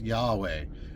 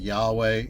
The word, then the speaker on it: Yahweh: From the study of the structure of the Hebrew language, most scholars today believe that Y and H and W and H was probably pronounced Yahweh or Yah and Way.